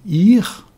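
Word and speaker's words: עיר: Haïr, c'est un aïn, un yod et un resh. Cela veut dire le jeune ânon, et prononcer ir, ça a le sens de la ville et aussi de l'ange, le messager.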